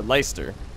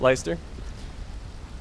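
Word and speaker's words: Leicester: the lady of lysa stood or leister that's how you pronounce it leister I only know cuz the football team Susan grade the lady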